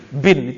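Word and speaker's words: ابن: ada bahaya orang-orang ngerti dia bacanya Ibnu Ibnu atau Ibnu anak laki-laki siapa Graber gitu cuman karena gundul orang Indonesia suka bacanya bin istilahnya Ubay bin ka'ab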